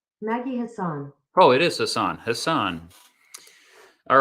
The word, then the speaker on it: Hassan: look at there maggie hassan oh it is hassan hassan all right senator hassan uh she is um she's been in the u.s senate since 2017.